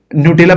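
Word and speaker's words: Gnutella: decentralise पीटू पी चलिए ये इसको आप नटेला पढ़ेंगे इसमें जी साइलेंट होता है ये याद रखिए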